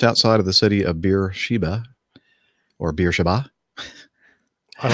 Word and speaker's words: Beersheba: Just outside of the city of Beersheba or Beersheba. I like the beer Sheba. I want some more beer, please. Sheba. What's the waitress's name again? Sheba. Okay. I'll have Sheba, more beer.